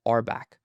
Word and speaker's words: RBAC: This entire approach of defining permissions via roles is known as rolebased access control abbreviated RBAC and pronounced as arbback.